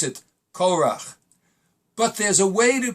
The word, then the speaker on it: Korach: without any new kudos we know that we pronounce it Cora but there's a way to pronounce it another